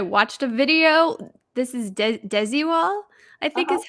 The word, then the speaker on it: Desigual: Yes, this is I looked up how to pronounce it and I watched a video. This is Desigual, I think Uh-huh.